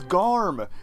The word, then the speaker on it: Garm: It's Garm. It's one syllable, and it is this close to Garmager.